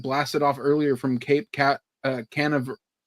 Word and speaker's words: Canaveral: rocket that had blasted off earlier from Cape Canaveral.